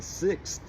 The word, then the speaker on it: sixth: Well, just break it down. You already know all the phonemes. You have S that says S, short I says I, K has the hard C sound, the K, and S,